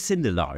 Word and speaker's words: Sindelar: It is Sindelar, is it? That's it. Yeah. You're one of the few people who did it right on the first try.